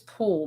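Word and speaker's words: Poole: departments there is um his last name is pool but it's spelled p-o-o-l-e what's the name Justin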